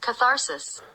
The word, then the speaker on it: catharsis: Auf Englisch heißt das Catharsis. Catharsis, okay. It is catharsis.